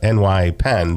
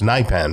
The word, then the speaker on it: NYPENN: now I've been saying of New York uh NY pen but I guess it's pronounced nen right correct correct that's the way you want